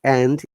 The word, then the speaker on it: and: one and sound okay if you find this word and in between two words it should be always n not end okay okay for example